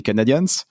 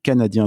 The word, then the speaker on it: Canadien: le Canadien de Montréal n'allez surtout pas l'appeler les Canadians c'est bien le Canadien de Montréal et même les anglophones le prononcent tel que d'ailleurs quand vous